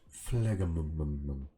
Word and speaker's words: phlegm: Excuse me, I can't stop producing all this phlegm. Who comes up with these weird medical words by the way? Phlegm? Who first thought of phlegm? And spell it with a PH and a G.